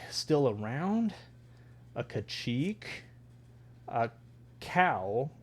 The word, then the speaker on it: Kau: A Kau. It's a cow, but it's spelled with a k a u. Very cool.